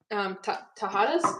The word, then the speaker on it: Tajadas: Tajadas?